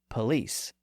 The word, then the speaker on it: police: c which is pronounced police again lice is older going all the way back to Old English and it went through the vow shift but police is a French loan word that came in later